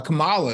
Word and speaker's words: Kamala: Kamala Harris you know and mispronounce her name all the time always missing out mispronouncing her name man Kamala Kamala uh uh Kamala and it's like you know it's Kamala man it's let's get the